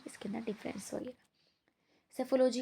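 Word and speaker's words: psephology: इसी उद्देश्य से चुनाव विश्लेषण यानी सेफोलॉजी पी साइलेंट है इसके इसलिए सेफोलॉजी पढ़ते हैं इसको को राजनीतिक संचार के अध्ययन की एक महत्वपूर्ण पद्धति माना जाता है।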